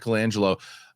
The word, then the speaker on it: Colangelo: Is that how you pronounce it, Peter? Do you know Colangelo? Mike Colangelo.